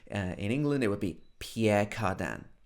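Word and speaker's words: Pierre Cardin: pierre cardan of course this is not the correct french pronunciation but we like to make everything sound english so in england it would be pierre cardan pierre cardan okay so we've talked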